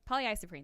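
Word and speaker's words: polyisoprene: Polly's breehn poly isoprene poly isoprene that's right that's how you say it correctly so they transfer heat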